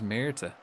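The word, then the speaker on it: Myrtaj: So his name is Mera.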